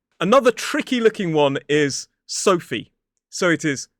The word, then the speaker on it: Sophie: Another tricky looking one is Sophie. So it is S, O, the diphthong O, and then f, E. So the PH is pronounced as a f sound.